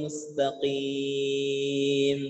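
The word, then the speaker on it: مستقيم: Jadi pengucapan o, i ini tidak tebal. Apalagi ketika kasroh. Ihdinas siratal mustaqim. Tidak mustaqim. Tidak tebal. Mustaqim. Qi. Sudah. O, qi. Qi. Mustaqim. Ya, diringankan.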